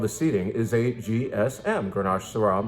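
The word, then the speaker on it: Steading: This is called the Steeding, and that's how you say it, not the Stedding. It's a Scottish term.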